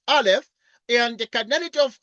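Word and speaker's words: aleph: like this is a is a Hebrew letter pronounced Alf and the canity of R we denote by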